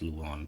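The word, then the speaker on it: du Lion: They pronounce the lion as Luan for some reason.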